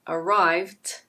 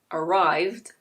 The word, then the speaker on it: arrived: For example, if you say /əˈraɪvt/ instead of /əˈraɪvd/, a lot of people will not notice.